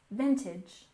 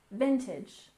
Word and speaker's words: vintage: next we have vintage with stress on the first syllable vintage vintage and this refers to Old